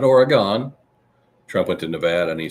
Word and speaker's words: Nevada: Trump went to Nevada and he says, you ever heard of a place called Nevada? He said, you ever hear some people? You ever hear some people? They say Nevada.